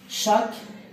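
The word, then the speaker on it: chaque: دائما هذه تنطق ك، اوكي. شاك، اوكي شاك. فوندغودي هذه الجمعة، هذه كل جمعة.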